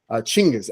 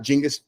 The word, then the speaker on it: Genghis: Asia says Genghis Khan chingas actually not Genghis chingas CH Genghis Khan Santa the proper way to say it um the so it's